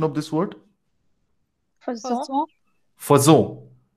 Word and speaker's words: faisons: you guys tell me now what is the pronunciation of this word? Faisons. Fazo. Right? It's not fezo, like we heard in that computerized voice. It's fazon because F O second symbol gives it away.